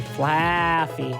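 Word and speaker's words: Flaaffy: You have to say Flaffy because there's 2 A's.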